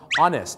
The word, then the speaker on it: honest: ฝาก ไว้ นะ ครับ 3 คำ ที่ เริ่ม ต้น ใน ตัว H เ นะ ครับ ที่ ไม่ ออก เสียง ฮ น คูก แต่ เป็น ออ อ่าง หรือ เป็น เอ เนี่ย นะ ฮะ จะ ไป อีก 1ึ ครับ ก็ คือ คำ ว่า honest นะ ครับ honest ก็